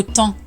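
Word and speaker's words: temps: Pourquoi le mot temp s'écrit-il avec un P et un S qui ne se prononce pas parce qu'il vient du latin Tempous ?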